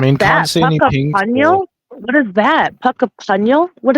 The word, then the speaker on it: Puckapunyal: And it looks like in between Heathcote and this, It's pronounced Puckapunyal. There you go. Puckapunyal.